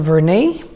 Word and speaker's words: Vernet: I buy them from Vern a you don't pronounce the teats of Vernet otherwise it's probably fresh